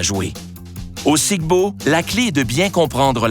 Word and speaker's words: Sic Bo: sigbo parfois prononcé siibo est un jeu de